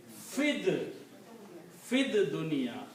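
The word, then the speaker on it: فِي الدُّنْيَا: So you don't even pronounce this ye here. You say fid dunya.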